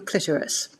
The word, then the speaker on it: clitoris: in particular about your clitoris. And in brackets, it spells it out, k i k l i t o r i s, so that people know how to pronounce it, clitoris.